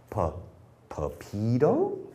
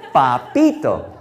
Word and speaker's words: Papito: He said, Papito? No, no, no, Papito. He said, oh, Papito. Papito, he said, sounds like Dorito.